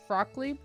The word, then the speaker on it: Fruckley: And I will name it Fruckley. Pronounced Frockly? I'll name it Frockly. Pronounced like broccoli.